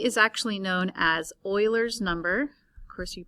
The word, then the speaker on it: Euler: an irrational number e is actually known as euler's number of course you pronounce it euler but it's spelled e-u-l-e-r euler's